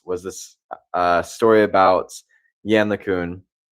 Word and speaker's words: Yann LeCun: this uh story about Yann LeCun. I think that's how you pronounce his name. Um I I used to say Yann Le Twin, which uh not.